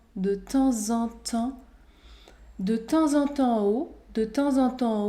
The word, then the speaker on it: de temps en temps: temps en temps au ici la liaison est obligatoire dans cette expression figé de temps en temps de temps en temps de temps en temps au de temps en